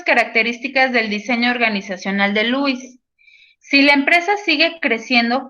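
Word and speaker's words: Lowe's: en louis lo necesite se pronuncia louis company que si ustedes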